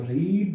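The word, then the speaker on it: read: रीड आर ई एडी लेकिन second फम को बोले बोले रेड राम रेड राम रेड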